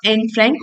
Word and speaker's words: Anne Frank: यहाँ पर एक चीज और सीखिए, चूंकि ये डच लैंग्वेज में लिखी हुई थी, तो जो एन फ्रैंक है, एक तो ये एनी फ्रैंक नहीं है बेटा, एन है।